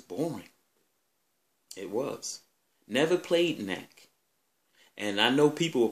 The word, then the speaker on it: Knack: Now, am I going to say Knack was whack, even though it rhymes with whack?